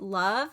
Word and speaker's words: Lauv: My other one is I Like Me Better by, I think the artist is pronounced Love, but it's Lauv.